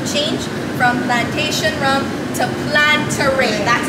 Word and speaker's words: Planteray: So as of this day of filming, we just recently announced our name change from Plantation Rum to Plantaray. That's how it's pronounced.